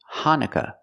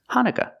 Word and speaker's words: Hanukkah: okay first pronunciation hanuka in American English we pronounce it Hanukah hanuka the second vowel is a short u sound uh like cup and up Han Hanukah not hanuka but Hana Hanukkah and she said Christmas